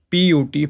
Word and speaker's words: put: It is not like the English language, B-U-T, but P-U-T, put. You write both things in the same way, but you pronounce them differently.